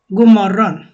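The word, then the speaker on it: god morgon: বলবে যখন সূর্য উঠে গুমরন গুমরন গুমরন লেখা আছে গু ওডি গু কিন্তু বলার সময় আর কি পুরো ওয়ার্ডটা বলে না শুধু গু বলে গুমরণ গুমরণ দিনের বেলা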